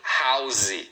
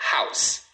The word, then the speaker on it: house: Uma sílaba house. Então não fale house, não tem duas sílabas, tá? É house.